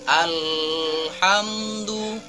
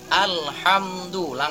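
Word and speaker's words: الحمد لله: tidak boleh ada dengan atau bacaan yang salah itu seperti Alhamdulillah tidak seperti itu tapi yang benar adalah Alhamdulillah langsung masuk ke huruf setelah alif lam nya karena disitu ada Ilham famaria atau Alif Lam Qomariah alif lam nya harus dibaca jelas jadi tidak ada penekanan dan tidak ada dengungan ketika membaca al-quran jutnya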